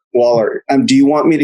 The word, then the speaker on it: Woller: by the way, is your last name pronounced Woller? Is that correct? Yeah, like an A, like a wall and an Woller.